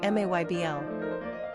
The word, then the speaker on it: Mabel: Pronunciation, Maybl.